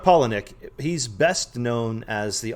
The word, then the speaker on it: Palahniuk: of tea at all most people don't even know how to pronounce his last name but chuck paulinek that's how you pronounce the last name chuck pollinick he's best known as